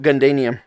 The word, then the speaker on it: Gundanium: the metal that uh there's no r yeah that's what happens when you ma matt coat gundanium i'm tired okay i